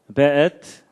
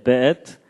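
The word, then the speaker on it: וְאֵת: 그 다음에 앳, 하샤마임, 베엣. 요게 이제 W인데도 여기에 독일식 발음을 해서 베 이렇게 읽는다고 합니다. 예, 베엣, 하아렛.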